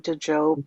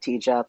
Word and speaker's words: Djop: very familiar with the name DJ job and how it's pronounced with a hard J not a soft J and it's not te job and so forth.